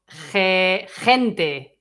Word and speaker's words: gente: So, gente. Je. So this one, I'm going to make it like if it was Spanish J.